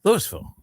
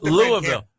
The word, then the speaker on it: Louisville: Say Louisville. Say it the way they say it there. Louisville. Say it the way they say it there. Lewisville.